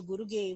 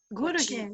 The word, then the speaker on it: Guruge: The pronunciation of Ananda Guruge was correct. Guruge.